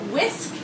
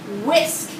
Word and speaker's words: whisk: whisk can you say whisk whisk great job make sure you hear that w sound at the beginning whisk a whisk isn't